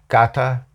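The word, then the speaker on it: κατά: Two words, and it's actually kata ikos. Now, kata is a Greek preposition, and that firm kat,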